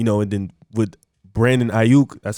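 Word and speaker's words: Aiyuk: good quarterback you know and then with brandon ayuk that's how you pronounce his last name his breakout rookie year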